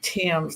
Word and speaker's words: Thames: proud to be here I pronounced my last name Tims like the Tims River in England it's really different and